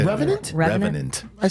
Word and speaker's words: Revenant: Revenant.